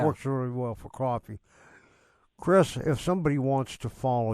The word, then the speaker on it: Kris: with the journey so my name again is Chris it's spelled k-r-i-s uh so Chris with One